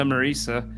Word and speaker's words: Marisa: And- Think of the name Lisa. It rhymes with that. Oh, that's a good idea. So Yeah. Lisa Marisa, you can find her Instagram.